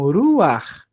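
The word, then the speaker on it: רוח: Eu leio primeiro a vogal e depois eu leio o re. Então, ruar. O último som que eu escuto é de rr forte do do ret.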